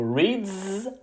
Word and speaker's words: reads: Pour likes, on prononce un S. Pour reads, on prononce un Z. Et pour watches, on prononce is.